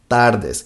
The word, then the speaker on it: tardes: Buenas Tardes if you if you notice that the R for for Spanish sounds different than the R in English TAR, TAR, TARDES, it's different but don't worry about that